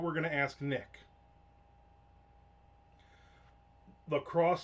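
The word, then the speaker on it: LaCroix: going to ask Nick Lacrosse Seltzer is pronounced lacrosse because of some stupid town in Wisconsin exactly not because they're French.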